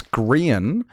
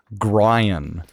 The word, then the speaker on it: Grian: They know somebody and they pronounce Grian Grian. like Brian with a G.